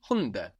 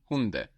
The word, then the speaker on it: Hunde: The dogs is die Hunde. Die Hunde. And we notice also that the D is soft again, because it's not on the end of the syllable like in der Hund. Die Hunde.